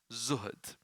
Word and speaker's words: zuhd: for this it's called z z zah and Dal zood and this is where you